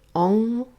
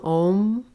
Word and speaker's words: Om: Some pronounce it Ong, O-N-G. Some Om.